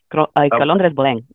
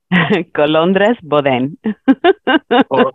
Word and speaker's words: Colondres Boden: Colondres Boden. Say that again. Colondres Boden. Colondres. I appreciate you attempting to roll your R.